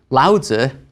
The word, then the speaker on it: Laozi: There are two romaniz romanization systems for Chinese. So in older books, you may have seen daoism spelled with a t at the beginning. In newer books, you'll see it with a d. Similarly, laza used to be spelled with a tzu at the end and now it's a zi at the end.